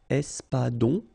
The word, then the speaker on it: espadon: O-N in your nose, nasal, on, espadon, la truite, same thing here, final E not pronounced, t, la truite, le maquereau.